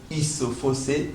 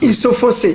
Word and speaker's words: Isofossé: Oui, je m'appelle Isofossé. Isofossé. Voilà. Là, vous l'avez prononcé à Isofossé à Lingala.